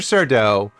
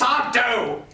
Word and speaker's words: Sardo: Sardau and that nutbag, Dr. That's Sardo. No, mister. Accent on the dough.